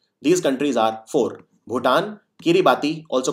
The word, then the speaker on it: Kiribati: These countries are four: Bhutan, Kiribati, also called pronounced as Kiribati, then there is Sao Tome and Principe and Solomon Island.